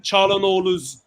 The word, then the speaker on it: Çalhanoğlu: Look, the G in Hakan Çalhanoğlu's surname is silent, bro. You don't pronounce the G.